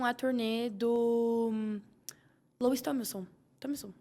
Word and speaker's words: Tomlinson: Tomlinson, é assim que se pronuncia?